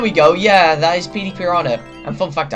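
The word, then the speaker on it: Petey Piranha: go yeah that is pd piranha and fun fact i used to say his name as petty piranha for some reason i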